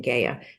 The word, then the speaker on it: Gaia: I used to have a student named Gaia, spelled the same way, but when I listen to the author, she pronounces her name Gaia.